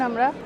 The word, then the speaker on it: Amer: এখন আমরা আম্বার ফোর্টের ভেতরে ঢুকছি। এই ফোর্টটাকে আম্বার আমের দুটোই বলা হয়। কেউ আমের উচ্চারণ করে, কেউ আম্বের উচ্চারণ করে, কেউ আম্বার উচ্চারণ করে, কেউ আম্বার উচ্চারণ করে।